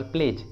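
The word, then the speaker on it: pledge: For example प्लेज, प्लेज, देखिए यहाँ पर डी और जी एक साथ हैं तो डी को प्रोनाउंस नहीं करेंगे, डी साइलेंट होगा तो इसका सही उच्चारण होगा प्लेज, प्लेज।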